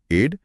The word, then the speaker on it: aide: उच्चारण वही है एड, लेकिन एड का मतलब मदद नहीं बल्कि मदद करने वाला व्यक्ति यानी सहायक होता है।